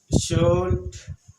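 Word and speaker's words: should: य L silent है और एल साट इसको क्या पढ़ते है शुड पढ़ते हैं अब ध्यान देंगे इधर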